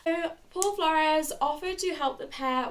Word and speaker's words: Flores: were accompanied by Paul Flores. I think that's how you pronounce it. It's Flores. So that's just how I'm going to pronounce it for the rest of the video.